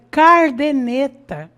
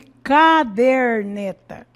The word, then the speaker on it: caderneta: Então nós vemos aí cardeneta, né? ao invés de caderneta, típicos de pessoas de baixa condição social, típicos de pessoas que estudaram pouco, é que costumam cometer essas falhas.